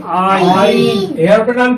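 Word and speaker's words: عين: এরপর হরফটা হলো আইন। আইন। এই হরফটা চিকন হবে, শ্বাস বন্ধ হবে এবং এটা মাকরাজ উচ্চারণ করতে হবে মাকরাজ 2 অনুযায়ী।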